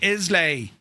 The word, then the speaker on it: Islay: La, not lay. Right, so it's Isla.